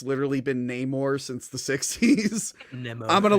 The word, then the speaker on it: Namor: his name like that when it's literally been Namor since the 60s I'm gonna lose my mind but then other characters in the movie called him Neymar and I'm like okay if they said it